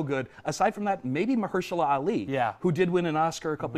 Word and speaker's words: Mahershala Ali: I can never pronounce Mahershala Ali? Mahershala Ali, Yeah.